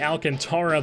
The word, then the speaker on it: Alcantara: Giants as the fish are sending out sandy Alcantara that's how it's pronounced even I know that I don't get